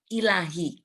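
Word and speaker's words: إلهي: Ini alif, lam, ha. Ilahi. Bacanya pendek semua.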